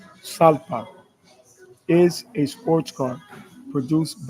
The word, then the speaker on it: Jalpa: Lamborghini Jalpa, Spanish pronunciation, Salpa, is a sports car produced by the Italian automotive manufacturer Lamborghini from 1981 until 1988.